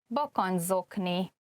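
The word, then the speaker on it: bakancszokni: And the reason why it could be harder to pronounce is that at the end of bakancs, you can see the CS, which is a Hungarian digraph. And then the next word, zokni, begins with a Z.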